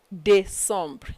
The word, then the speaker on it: décembre: Septembre, octobre, novembre, décembre. You see where we pronounce D because accent aigu is applied on E in December. But it does not apply on the last E.